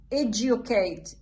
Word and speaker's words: educate: هنا educate، educate ما أقول educate، لا educate. فإذا هذه الكلمتين تحفظ على الغير بشواذ. هذه هنا الدي والجي والدي والجي ما يلفظ دي وإنما يلفظ ج.